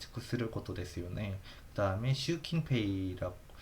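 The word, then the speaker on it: 習近平: 아, 이거는 슈킨페이 시신핑이라고 읽기 하는데 보통 슈킨페이라고 어 읽고요. 네. 일본어로도 시진핑이라고 우리나라 말로 하는데 스금 근데 어 하 일본어로는 시침핑이라고 뉴스에서 들어본 적은 없는 거 같아요. 그래서 그냥 슈킨페이라고 보시면 되고요.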